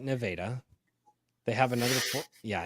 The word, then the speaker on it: Nevada: not they have a it's spelled Nevada but they call it nadaa they have another yeah